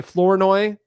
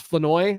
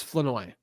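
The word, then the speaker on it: Flournoy: Ryan Fenoi, some people say Floreninoi, but I listen to Floweroi is I listened to pronunciations for about 20 minutes the other day and uh it's Fenoi.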